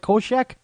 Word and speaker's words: Kulczyk: I know it's just like the Night Stalker. Is it Culczyk? Yeah, you got it right. Kulczyk.